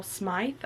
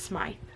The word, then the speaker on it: Smythe: Olympus Vol 4 by Rachel Smythe I think is how you say her name I think I've been saying it Smith but I think it's Smythe I'm not 100 sure if you know let